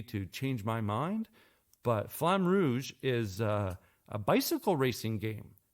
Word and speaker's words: Flamme Rouge: And finishing off, Rebecca played some Flamme Rouge. And for the non-roll your R people, Flamme Rouge.